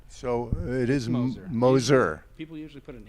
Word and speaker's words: Moser: props you're one of the first people to pronounce that right so it is Moser we put an H in there for some